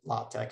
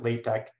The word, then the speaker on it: LaTeX: using what is called lotex so this is pronounced lotec as a um some people pronounce it latex either way so there are two different types